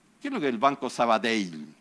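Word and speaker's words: Sabadell: creo que el banco Saba dail porque así se pronuncia porque es Catalán ya es un gran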